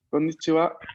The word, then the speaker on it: こんにちは: No, recordemos poner el acento un poco en la última sílaba, ¿no? Konnichiwa, konbanwa.